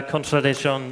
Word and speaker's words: contradicció: What lies behind the song La Contradiction, and do I pronounce it correctly? Yeah, of course. It's perfectly pronounced. Is this open, I think? It should be. Yeah, it's not so. Yeah, okay, perfect. Yeah, that's open.